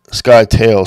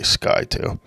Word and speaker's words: Scytale: how to add the sky tail c plugin to your sdr sharp now it's spelled s c y but we're just going to say sky to so anyway we're going